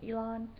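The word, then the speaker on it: Illán: Um, I went to team um, Leon Lion. I can't even say his name. Elon. It's I L L A N.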